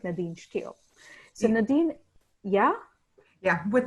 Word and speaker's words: Nadine Steele: I actually asked Nadine how to pronounce her name just before I started, so hopefully I'm saying it right, Nadine Steele.